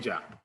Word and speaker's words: Heja: So we feel like let's just pronounce it like in a phonetic way, calling it Heja.